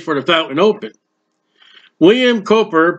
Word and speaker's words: Cowper: once called praise for the fountain open William Cooper pronounced Cooper was one of the few him writers that